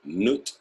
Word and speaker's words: Nut: Nut, pronounced Nut, was a sky netcher.